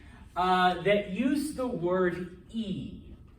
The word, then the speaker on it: y: that use the word e remember this is the letter y but when it's all by itself it's pronounced e and what does e mean